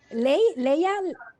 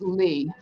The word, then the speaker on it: Leigh: It's actually pronounced Leigh. And if you think of classic Hollywood actresses like Janet Leigh and Vivian Leigh, you'll never get it wrong.